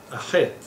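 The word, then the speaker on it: ח: And it's pronounced Het in Hebrew, and I erase a stripe right down the middle.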